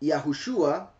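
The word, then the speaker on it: יהושע: видим справа налево в на иврите это читается как йахушуа не может три не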